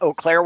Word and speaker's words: Eau Claire: Because I actually pronounced it Eau Claire, Wisconsin.